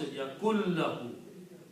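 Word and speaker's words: يكن له: And when you pronounce your lam, you don't pronounce the noon. You say the lam is pronounced yakun lahu.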